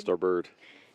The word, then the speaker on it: starboard: starboard rowers and it's spelled starboard but we pronounce it starboard starboard coxen way enough all the things that are